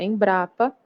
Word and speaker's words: Embrapa: Caixa Baixa tá então Senac você lê como uma palavra fio Cruz você lê como uma palavra Embrapa também você lê como uma palavra então você não pronuncia letra a letra como acontece com IBGE